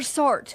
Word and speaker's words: SART: assault reporting team or sart working to tackle the issue rhymes with fart they it should be